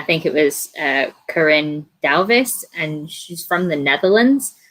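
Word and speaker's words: Duyvis: that it was like the first part which is d-u-y is actually pronounced like the owl sound in-house or something like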